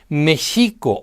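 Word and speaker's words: Mēxihco: The original word was pronounced "Méshico" or "Meshijco", which means "the navel of the moon" or "in the center of the lake of the moon."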